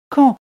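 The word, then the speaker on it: Caen: camp oh et d'ailleurs il faut prononcer cand comme le mot cand donc dans la ville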